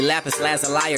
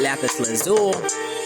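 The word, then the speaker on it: lapis lazuli: The crystal of the day is going to be lapis lazali or lazali, however you would like to pronounce it, but I call it lapis lazul.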